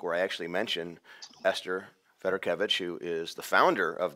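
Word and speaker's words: Fedorkevich: I actually mention Esther Federkevich, who is the founder of the Fed Agency. Yes. Up to that point, I had always mispronounced her name. I had always thought I thought it was Fedorkovich.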